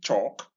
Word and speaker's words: chalk: Now notice once again that the L in each of these words is silent. Like we came across silent L earlier in such ways as calm, psalm, and palm. It's useful keeping it in